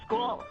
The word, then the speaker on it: skål: Skål.